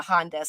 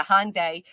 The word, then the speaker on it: Hyundai: that was embarrassing well it's a Hyundai I said it wrong it's not a hondes a Hyundai uh familyes always driven